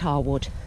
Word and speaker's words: Harewood: evening when it's cooler apparently hawood is technically pronounced Harwood but nobody calls it that so I'm not going to well that's quite pretty